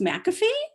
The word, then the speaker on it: McAfee: offering nancy sorry um my name is pronounced mcafee mcafee i'm so sorry um